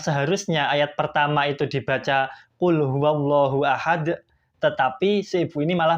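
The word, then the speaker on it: قل هو الله أحد: dalam membacanya yang seharusnya ayat pertama itu dibaca Qul huallahu Ahad tetapi Si Ibu ini malah membacanyaluallahu Ahad kalau misalkan dibacanya seperti itu itu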